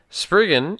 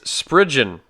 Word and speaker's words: Spriggans: how to say it it's it's Spriggans Bridget yeah not sprig in' whoops the spurgeon are